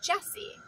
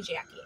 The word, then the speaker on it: Jessie: I say my name, I say, it's Jessie. Please tell me you hear J-E-S-S-I-E, right? No, everybody calls me Jackie, and it happens all of the time.